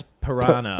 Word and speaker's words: piranha: It's Piranha sounds a bit posh, don't you think? That is how it's pronounced. Is it how it's pronounced? I always Yeah. thought it was like you had a choice. No. It's not like dance and dance. Yeah, okay. That's what, No, it's a piranha at all times, I'm pretty sure.